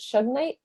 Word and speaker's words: shungite: I don't know how to pronounce it. Is it Shugnite? Shungite? Shungite.